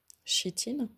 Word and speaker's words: chitine: Elles sont en chitine, c'est comme ça qu'on prononce ce mot, qui est apparemment le